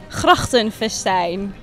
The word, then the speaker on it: Grachtenfestijn: First of all, how do you pronounce this? Grachtenfestijn. Grachtenfestijn.